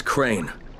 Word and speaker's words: Crane: store no my name's crane crane crane rhymes with train and brain and same and gray and rain and plain and the other kind